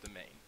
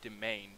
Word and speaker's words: demesne: That is pronounced Demesne. Do not ask me why. Actually, do ask me why. I actually relatively know how. It's because it's apparently a French word, and French words are weird.